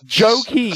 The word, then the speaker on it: Joaquin: You think it'd start with a J? Oh my God. Anyway, Joaquin. It's a silent J.